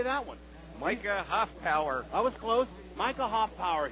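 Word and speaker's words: Micah Hoffpauir: Then a guy named Mitch Hofpower. How do you say that one? Micah Hofpower.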